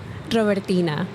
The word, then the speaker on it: Robertina: R O B E R T I N A. So, uh, in my silly plain English accent, it would be Robertina.